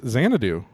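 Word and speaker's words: Xanadu: for me sure uh no that's not correct it's zanadoo how do you spell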